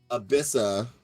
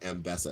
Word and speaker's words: Ambessa: But then I was like, well, I do a lot of gender plays and like Abyssa, I think I'm saying Ambessa. Ambessa is how you say it.